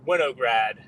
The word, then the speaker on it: Winograd: better the the way the way that it's pronounced uh in in the uh the dirty English would be Winograd but uh yeah well